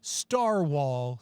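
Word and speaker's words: Starwhal: That is Campaign Skyjacks or Starwall spelled like Narwhal.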